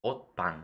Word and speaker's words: 옷방: otpang. Okay, I got that correct. At least the shiot being not followed by a vowel being pronounced as a tigut.